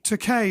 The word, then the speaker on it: Takei: Takei is actually how pronounced, but I say Takai because they won't know who I'm talking about.